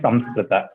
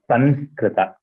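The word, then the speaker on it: संस्कृत: It's not Sanskrita, it's Samskrita. Anyway, the third pronunciation which you told, there also, it is not Kunkuma Nga.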